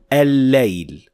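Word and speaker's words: الليل: Remember, this is al-shamsiyya, so we will not pronounce the first lam at all, and the second lam will have shadda on top of it. And so we say al-layl, like when we say ash-shams.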